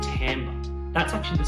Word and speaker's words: timbre: Now, we spell this timbre, but we actually pronounce it timbre.